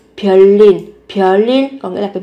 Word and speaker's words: 별일: Các bạn sẽ phát âm bằng cách là ở đây biến âm thành riêng sẽ là 별일.